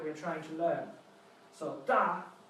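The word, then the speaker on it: 大: That's English words that sound a little bit like the pronunciation of the character we're trying to learn. So, da sounds a little bit like the beginning of the word Darth Vader.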